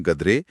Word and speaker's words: गद्रे: उन्होंने ये भी बताया कि कैसे एआई उनके सरनेम गद्रे का उच्चारण गाडरे करता है, लेकिन उन्हें इससे फर्क नहीं पड़ता। क्यों? क्योंकि उत्तर भारत में कई लोग उन्हें वैसे भी गाडरे ही बुलाते हैं।